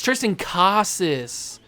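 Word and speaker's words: Triston Casas: get another debut Tristan how do they say it it's Tristan Casas okay that's how I will pronounce it now that I know Tristan Casas sends that to deep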